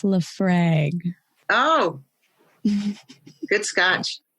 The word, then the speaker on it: Laphroaig: It's I'm like, MJ can pronounce it for me. It's Laphroaig.